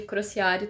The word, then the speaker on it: Crociário: Você pode me chamar de Crociário também, se você quiser, é dessa maneira que pronuncio o meu sobrenome.